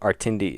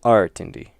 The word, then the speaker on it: Artindi: So, like Artindi is 3 syllables long, and if they put it on the first syllable, then it would be Artindi, and if it was on the second one, it'd be Artindi.